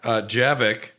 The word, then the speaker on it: Javik: Javik. It's Javik, right? I think it's Javik. Oh, I call him Yavik. Javik. Yeah. Yavik, yeah. It's not Okay. Yavik, it's Javik.